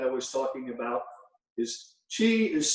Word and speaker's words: Qi: And I just want you to remember this, Qi is pronounced Qi, and it's a Scrabble word, so this could help you quite a bit.